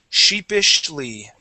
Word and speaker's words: sheepishly: So we have an sh sound at the beginning and an sh at the end. It sounds like this. Sheepishly.